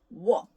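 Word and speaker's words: 워: So wa, o and a, so wa, quickly to make one syllable, wa, right? So it's like wa sound, wa. And now here, wo, right?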